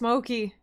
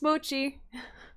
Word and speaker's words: Mochi: Every time I hear him pronounce this Moki, oh my gosh. It's okay, Nerd of the Rings, I forgive you, but it's Mochi.